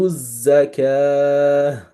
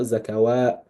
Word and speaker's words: zakah: So that will be wa you to zakah. So this is zakah. It's not zakawa.